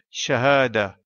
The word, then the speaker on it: شهادة: En arabe, diplôme se dit shahada, comme indiqué à la droite de l'écran.